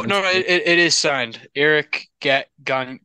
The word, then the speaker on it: Gagne: Can I give you some correct pronunciation? Oh, no, it is signed. Eric Gagne. Gagne, the Atabay.